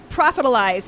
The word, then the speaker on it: Profitalize: John Weberg is the CEO of Profitalize. Is that right? Yes. Profitalize? Yes. Okay. I wanted to make sure I was pronouncing it right.